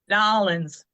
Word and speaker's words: New Orleans: All right, so like I said, we're talking about New Orleans, or how do you say it, Andy? Nolans. Nolans. So it's like, think of it N-A-W, nah.